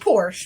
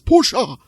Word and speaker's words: Porsche: put some gas in my ferrari hey oh porsche my fault it's porsche porsche joey and he was italian that's just